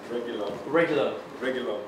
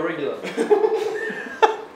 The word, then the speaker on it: Reguilón: Reguilón. Sergio Reguilón.